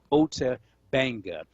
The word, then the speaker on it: Ota Benga: If folks want more information about the story of Ota Benga, the name is spelled O-T-A, last name Benga, B-E-N-G-A, Ota Benga.